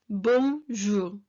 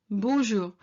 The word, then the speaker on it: bonjour: ones that people slightly worry about about the pronunciation of it so it's bonjour bonjour but i wouldn't worry too much if you